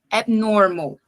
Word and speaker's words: abnormal: posso falar essa palavra pulando esse b então mas não tem vogal do lado então ele não é tão forte ele é bem suave bem Sutil então é normal como se eu tivesse a intenção de falar e daí eu desisto então abnormal certo o l